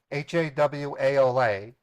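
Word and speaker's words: hawala: I try to get haala addresses haala addresses are businesses that lend themselves to money laundering through an a network known as haala that's pronounced hawaa it's an ancient form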